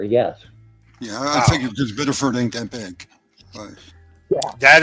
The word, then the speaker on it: Biddeford: And You got to say it like you're in Maine. Biddeford.